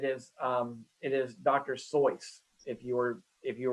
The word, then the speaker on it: Seuss: name and it actually in german is to be rhymed with royce so it's actually soyuz and i'm sure all